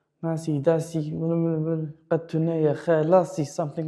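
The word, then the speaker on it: masî: Masi. Masi. Do you notice? Two long vowels at the same time. Masi.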